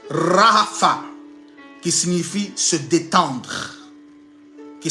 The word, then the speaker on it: Rapha: Et l'étymologie en hébreu de ce mot-là, l'étymologie en hébreu de ce mot-là, ça se prononce Rapha, qui signifie se détendre.